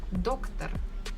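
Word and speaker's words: доктор: doctor Russians will be doctor so I can hear that stress falls on the first syllable doc doctor doctor here I can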